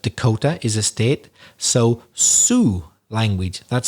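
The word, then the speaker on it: Sioux: people so south dakota is a state so su language that's spelled s-i-o-u-x they were one of the the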